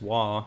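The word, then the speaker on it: は: pronounced differently yeah so has pronounced wah when it's a particle and head is pronounced e so yeah tooth hit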